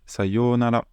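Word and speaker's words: さようなら: Maintenant, pour dire au revoir, ça va être sayonara. Sayonara. Donc, c'est bien yo avec un long o, comme on avait vu dans Ohayou, c'est la même chose.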